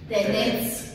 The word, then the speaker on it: Тенец: Заедно с молбата да произнасяме името му правилно, като поставяме ударението на последната смичка. Тенец.